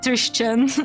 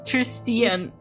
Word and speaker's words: Tristian: I think it's like Christian but with a T. Christian. Christian. Tristian. Yes, that that that's what it is. It's not Christian. It's Tristian.